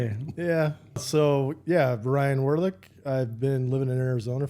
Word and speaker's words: Werlich: We got Ryan Werlich. Werlich. So you all know. That's how you say it.